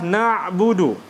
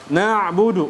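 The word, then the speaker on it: نعبد: selanjutnya adalah na'budu nabudu huruf Ain ditinjau dengan ketika dia disukunkan maka huruf Ain dia sifatnya apa syiddah rakah atau tawassut huruf Ain tawassut bukan syiddah Yati kalau syiddah kan dia seperti ini nabudu nabudu nabudu Ini salah karena huruf syiddah itu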